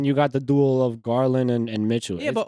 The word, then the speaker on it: Garland: Them Garland, I said it right. Garland and Yeah. Mitchell playing together. Yeah. That's Oh, right. okay, I is used it to say first? Gallard.